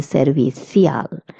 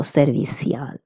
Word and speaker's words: servicial: Okay, if you're in Spain, you would say servicial with a little stronger th sound. And if you're in Latin America, you will pronounce ci as s, so servicial.